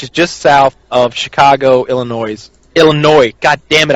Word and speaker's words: Illinois: Yeah, we're in Joliet, which is just south of Chicago, Illinois. God damn it, I hate when I pronounce the S. Illinois, and we decided we were going to go out and have some fun.